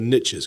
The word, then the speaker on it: niche: And so the secret, you know, the Americans say the riches are in the niches because they they mispronounce niche.